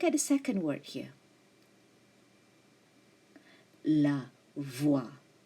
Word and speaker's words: voix: Most of the time, the consonant at the end of the French word is silent, like X here. So that's why you couldn't hear the sound of X. It's not la voix, but it is la voix.